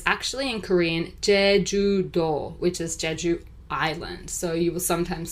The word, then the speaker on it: Jeju: idea all right so Jeju Island guys uh and it is not jiju or Jeju which I've seen um some foreigners just don't know how to pronounce it so it's actually